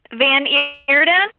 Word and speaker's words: Van Eerden: get some information about uh about how you pronounce the company name van eater and erden van erden erden this is van erden okay then arrowden